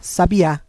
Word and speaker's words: sabiá: sílaba tônica é no último a sabiá enquanto a palavra sabia a sílaba tônica é no bi que não tem acento ele dá aquele som mais aberto acentuação acento circunflexo marca